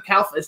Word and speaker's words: Calfa: Cairn, Linnea Quigley's a friend, Beverly Randolph, Don Calfa. How do you pronounce his last name?